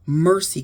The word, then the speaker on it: Mersi: And then there is Mercy Cookware. That's spelled Mersi.